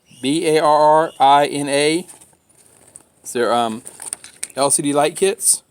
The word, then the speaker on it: Barrina: and eight pack of Ferrini I think I picked how they pronounce it VAR RI na there um LCD light